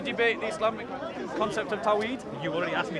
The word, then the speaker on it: Tawhid: Do you want to debate the Islamic concept of Tawhid? You already asked me. It's Tawhid. Do you want to debate it though? It's Tawhid. Yeah, pronunciations apart.